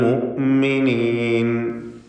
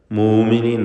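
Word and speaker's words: المؤمنين: മിനൽ മുഅ്മിനീൻ, അൽ മുഅ്മിനീൻ ഹംസ കടുപ്പിച്ച് ഉച്ചരിക്കുക. മൂമിനീൻ നൈപ്പോത്ത്.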